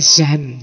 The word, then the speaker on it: Jean: ya mocone agak hati-hati tulisannya Jean cuma Bacanya apa kayak zan zan ya Zan bukan zong ya zong jadi semacam